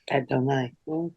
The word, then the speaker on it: Adonai: Okay, now that I'm finished, was I pronouncing Adonai correctly, or is there another pronunciation? That's it. Mhm. That's fine. Yep. Okay, thanks. Adonai. That's right. It can be Lord.